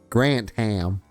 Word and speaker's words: Grantham: Americans pronounce Grantham. Grantam.